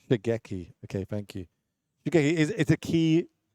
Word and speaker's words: Shigeki: Okay, how do I pronounce the name of that card that you got on the screen? Yeah, Shigeki. Shigeki.